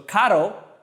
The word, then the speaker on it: caro: So caro without the rev is expensive.